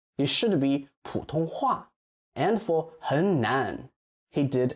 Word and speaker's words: 普通话: He did it with 普通话. It should be 普通话.